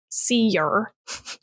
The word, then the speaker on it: Sear: Cole Sear, pronounced Seer, is able to see things ordinary people cannot, and Malcolm's last name Crowe suggests crows, a bird often associated with death.